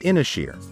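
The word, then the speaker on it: Ynyshir: in rural mid Wales inisher pronounced inishere may seem like an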